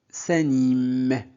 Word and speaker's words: s'animent: Donc, dans les verbes au pluriel, la terminaison ENT ne se prononce jamais. On s'arrête sur le son juste avant. Voilà, donc s'anime, s'anime.